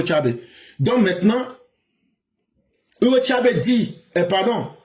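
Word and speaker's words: Chávez: Quand lui Nicolas Maduro prend il dit Hugo Chabe ne savait même pas c'est Hugo Chabè mais quand tu prononces en espagnol Hugo Tchabe.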